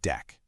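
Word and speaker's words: deque: First up is the DQ, which is short for double-ended Q, and it's usually pronounced deck.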